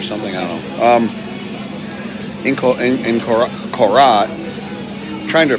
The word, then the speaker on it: Korat: In Korat, trying to pronounce the R. I copy the tone of the locals, so I tend to say Korat, but it's really Korat.